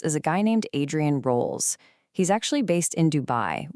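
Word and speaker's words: Rowles: Again, that name is Adrien Rolls. That's spelled R O WL E S.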